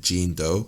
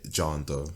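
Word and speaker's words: Jean Deaux: terms of chicago scene i think we pronounced it jean doe but hearing in song is actually called her name john doe okay go check her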